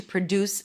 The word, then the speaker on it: produce: So the first syllable is a schwa. Second syllable is stressed. Deuce. That's the primary stress with an oo as in food. Produce.